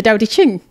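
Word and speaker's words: Tao Te Ching: I can never pronounce it. The Tao. The Tao, yeah. De Ching. Yeah, the Tao De Ching.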